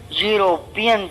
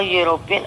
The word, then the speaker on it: European: Please don't look at the first alphabet of any word. Just pronounce the word and see. European, sound of year is coming. University, again sound of year is coming. Year is not a vowel sound, it's your consonant.